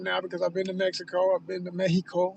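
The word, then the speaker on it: México: because I've been to Mexico. I've been to Méjico. Let me say it right. Say it official. I've been to Méjico.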